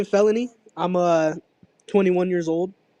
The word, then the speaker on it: FELXNY: I see you have this new song with uh Can you pronounce his name for me? Uh, felony.